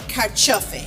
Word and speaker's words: carciofi: So I love Italian food, and we're going to make something today with two of my favorite ingredients, tomatoes and carciofi.